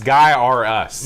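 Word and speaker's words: Gyruss: No one's pronouncing this Gyrus. It's Guy or Us. No. Get it right or pay the price.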